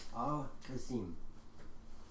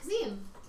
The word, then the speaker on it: Al-Qasim: My name is Al-Qasim. Ah, Kazim. Okay. So you're going to the city of your name. All right, Al. No. The city is spelled K-A-S-E-M. I am Al-Qasim. K-A-S-I-M. There is a difference.